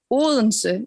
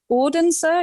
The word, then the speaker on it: Odense: So we have Odense in Denmark. It's pronounced in Danish. It's an impossible pronunciation, but Odense, you could also say, it is actually an old word, Odin's we.